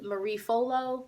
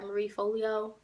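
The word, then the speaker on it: Marie Forleo: off if you was Marie folo or if I'm sorry Marie Folio that's how you say it if you was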